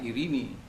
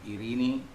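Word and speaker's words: εἰρήνη: Sementara irini, epsilon ketemu iota, itu menjadi i, dibaca i, ya. Jadi eta ketemu air, ro itu menjadi ri, ya. Jadi irini, ya. Jadi i. Jadi irini pronunciation dalam Greek modern.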